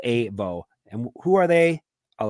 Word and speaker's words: AVO: It's spelled AVO, pronounced AVO.